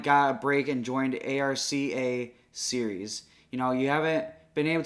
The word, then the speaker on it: ARCA: Yeah, so the ARC Series is how you would pronounce that.